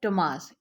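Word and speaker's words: Tomáš: जो first character है, इसकी जो चेक प्रोनाउंसिएशन है वो ये है टोमास। इसको जो है वो चेक लैंग्वेज में टोमास जो है ना वो प्रोनाउंस किया जाता है।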